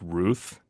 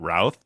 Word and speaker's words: Routh: It's pronounced Ruth, not Routh.